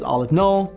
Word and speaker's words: aleph-null: The cardinality of the natural numbers, abbreviated with the symbol aleph not, turns out to be the least infinite cardinality. And yeah, I know some people pronounce this aleph null, I don't do that, tomato, tomato.